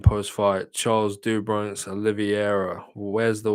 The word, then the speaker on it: Oliveira: It's a Brazilian name, bro. It's like Pereira.